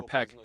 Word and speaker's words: Pac: In 1857th year, such a ruler named Venancio Pac or Peck, he is pronounced differently, created something like a state hierarchy.